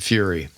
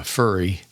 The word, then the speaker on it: Fury: sa B AO and fury which one of our good friends pronounces uh furry which we always thought was hilariously funny but it's fur y yes so Fury um check them out